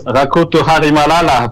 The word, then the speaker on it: Rakoto Hamihelala: But if you want to pronounce the full name, he's called Rakatoro Hamihelala. Good morning, good afternoon, sir. Hi, and hi, everyone. Yeah, actually, it's Rakoto Hamihelala, but nice try.